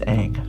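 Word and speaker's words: Aang: And so I just I'm saying it wrong, but it's Ang flying.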